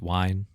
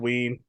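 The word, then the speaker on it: Wein: movies those characters so his name Len wine isn't pronounced wine I've heard ween really yeah interesting okay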